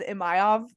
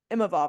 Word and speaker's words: Imavov: it I always agree I always read it as a mayav but it's imavov I believe yes correct yeah so